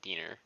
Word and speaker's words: diener: an inoculator, or a diener. Okay. That's how it's pronounced, right? It's not a dining table. It's a body table. Diener, yeah. It's not a diner.